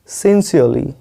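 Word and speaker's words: sincerely: देखिए ये तो लिखा है सिंसियरली, लेकिन आपको पढ़ना क्या है, सिंसियरली, आर साइलेंट है यहाँ पे, ठीक है।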